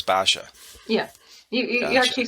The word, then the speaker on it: Basia: I didn't know how to pronounce it, so it's Basha.